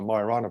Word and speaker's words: Majorana: possible if neutrinos are majorana this annihilation of neutrinos proved would prove that the neutrinos are marina particles which is the correct way to say it and also you get